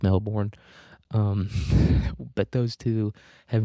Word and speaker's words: Melbourne: Um, there's another newspaper called the Melbourne Boomerang, or as Australians would say, Melbourne, but there's an R in there. Let's say the R. It's pronounced Melbourne.